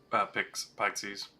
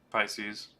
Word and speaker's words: Pisces: Pixies.